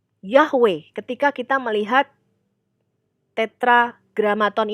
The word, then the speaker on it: Yahweh: sarjana kita itu mempunyai dasar untuk pelafalan Yahweh tapi bukan yeah gitu ya bukan saya